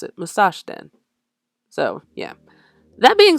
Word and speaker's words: Musashden: And yeah, that's also how you pronounce it, Musashden.